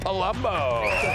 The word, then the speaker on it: Palumbo: His name rhymes with Columbo, which means he's no Dumbo. Co-founder of Based Politics, Palumbo.